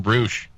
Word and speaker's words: Rush: Say it Spanish. Well, if they'd spell it Roosh, I'd probably say Roosh. That's not Spanish. That would just be erroneous. Yeah, how many times? How many times I've told him Roosh?